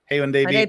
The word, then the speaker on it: Haeundae: Haeundae Beach.